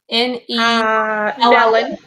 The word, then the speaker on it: Nelon: Nellon. Nellon, like melon. Oh, Nellon. Okay. I would say like melon.